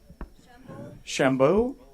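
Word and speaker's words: Chambolle: proclamation of congratulations to the Sonoma sister cities pronounce it Shambo Shambo yeah yeah okay so and and again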